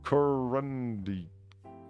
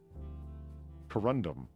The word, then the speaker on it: corundum: So how do you spell it there, Sam? Corundi. Just remove the I. You're kidding. Corundum.